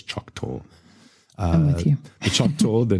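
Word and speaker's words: Choctaw: I'm pronouncing that correctly it's c h o c t a w so I'm going to say it is choc Tor uh the CH Tor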